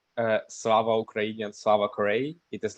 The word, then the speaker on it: Slava Ukraini: So if you wish, you can try to spell it. How do you say this in Ukrainian? So it is Slava Ukraini and Slava Korea.